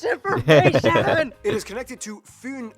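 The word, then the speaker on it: Fyn: it is connected to foon island not finn island by the great belt bridge completed in 1998.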